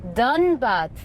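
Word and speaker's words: Dhanbad: So Shashi, you grew up in Dunbad.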